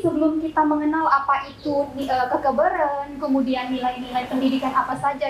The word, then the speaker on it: kekeberen: Nah, mungkin kalau misalnya kita baca secara bahasa Indonesia yang baik dan benar, itu pasti kita membacanya itu dengan kata E. Hurufnya itu E. Jadi kekeberen gitu ya.